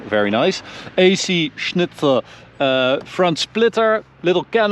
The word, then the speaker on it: AC Schnitzer: well we've got an AC Schnitzer wow that was very German pronunciation very nice AC Schnitzer uh front splitter little